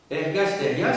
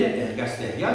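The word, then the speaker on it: ergastèria: Ergasteria, ça s'écrit E-R-G-A-S-T, E accent grave, R-I-A.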